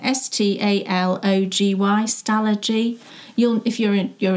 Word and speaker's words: Stalogy: find the name but it's it's stalogy that's how you say it isn't it s t a l o g y stalogy you'll if you're